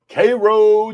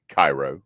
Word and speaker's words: Cairo: Cro, Georgia. For those of you who don't know, it is not pronounced Cairo.